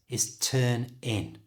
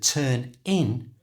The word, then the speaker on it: turn in: English speakers do, and they pronounce it as one word. And the way they do this is by moving the n from the end of turn to the I at the front of in.